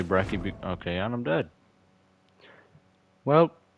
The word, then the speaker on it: Brecci: the brekkie looks also i'm pretty sure it's actually pronounced bratchy i think that's like the correct jesus i think brecci is the correct pronunciation but i just say brecky okay and i'm dead